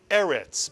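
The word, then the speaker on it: ארץ: The first syllable is mitzuyan. the silent aleph with the segol beneath it. And the second syllable is retz, mitsuyan, the resh with the segol and the final tzadi, which makes the tz, the ts sound. And so the second syllable is retz. And therefore, if you put this word together, you get eretz, mitsuyan. Please remember that a word with two segols tends to be accented on the first syllable.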